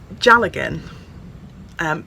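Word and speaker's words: dealgan: which I'm quite excited about it's called a gel again but it's not spelt as it's often phonetically pronounced it's actually spelled de al GaN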